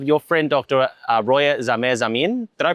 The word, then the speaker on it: Zamin: Roya Zame Zamin. Did I pronounce that correctly?